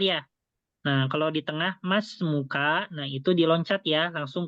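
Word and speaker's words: ما اسمكَ: Jadi di sini alifnya ya itu dilewati ya.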